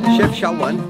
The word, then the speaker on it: Chefchaouen: Chefchaouen, which is how it's pronounced, or shortened by Chaouen, actually means look to the mountain.